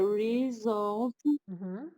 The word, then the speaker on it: result: The result variation. The result is always a golden, crispy bottom with fluffy rice on top. Very good. The result. Stress is on the second syllable, not result, okay?